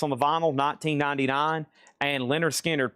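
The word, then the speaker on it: Lynyrd Skynyrd: 1999 and Leonard Skard pronounced Leonard Skard.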